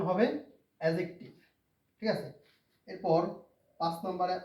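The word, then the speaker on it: adjective: এটার প্রকৃত উচ্চারণ হচ্ছে এডজেক্টিভ। অনেকে এডজেক্টিভ বলে। নো। It's very wrong. এটার প্রকৃত উচ্চারণ হবে এডজেক্টিভ।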